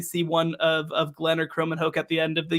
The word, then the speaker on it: Kromenhoek: And they also added a really, really good player in, I believe his name is pronounced Luke Kromenhoek.